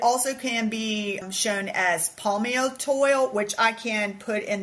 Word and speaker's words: Palmitoyl: can be shown as palmitoid, which I can put in the podcast notes. Palmitoid, just so you know, it's spelled Palmitoyl.